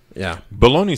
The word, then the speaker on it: bologna: It has a silent G. It's supposed to be like a French word, bologna.